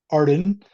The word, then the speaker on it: Ardden: It was called Arden, which is the worst comic book name ever because no one could pronounce it or spell it.